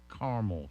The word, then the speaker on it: caramel: Today is National Caramel Day, or Caramel Day, however you want to say it, but you have to say it right before you get to eat any.